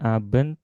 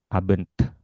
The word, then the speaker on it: Abend: Huruf D dan T di akhir kata tetap harus dibaca. Jadi, bukan "aben," pengucapannya tidak hanya berhenti di huruf N, tetapi ada hembusan udara, pantulan di bagian akhir. Ab abent.